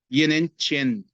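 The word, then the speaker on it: 越南拳: Então, em português se escreve Yuenan Quan, né? Mas em chinês se pronuncia Yenen Chen.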